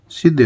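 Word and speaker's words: Shah: आ रहा है तो सीधे हाथ की तरफ लगाएंगे, पी ए एल M palm, S एच ए एच सा, ये एच साइलेंट है इसमें इसलिए इसको हम सा बोलेंगे, बी ए एल एम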